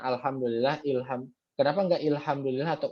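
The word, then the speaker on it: الحمد لله: berarti hamzahnya dibaca fathah makanya tadi dibacanya Alhamdulillah bukan ilhamdi atau hukum Alhamdulillah kita bacanya ar-rahman bukan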